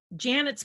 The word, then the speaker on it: Janet: out of that moment janet's planet was birthed this idea that it's like hey it's cool that my name janet rhymes with planet let's go with that